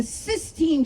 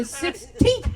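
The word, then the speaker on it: Sistine: The other day I found out it's actually pronounced the cyine chapel and not the 16th chapel.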